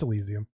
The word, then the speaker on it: Elysium: No, it's Elysium.